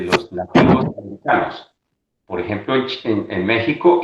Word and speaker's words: México: decía hace un momento muchas veces le damos el nombre o el sonido de jota por ejemplo méxico se escribe méxico y se dice méxico texas el estado de